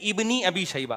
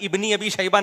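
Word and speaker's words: ابن أبي شيبة: शबा साहब बता रहे लोग इसको गलत पढ़ते हैं सही है इबनी अी शबा अबे भाई इबनी अबी शबा नहीं है लबनी अी ये अलिफ साइलेंट है ये हमजा वसलिया कहलाता है इसको लिखा जाता है पढ़ा नहीं जाता ये ऐसा ही है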